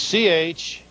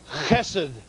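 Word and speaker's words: חסד: This is C-H-E-S-E-D-H. Chesed. The D with the dot is a D. Without the dot, it's pronounced with a D-H sound.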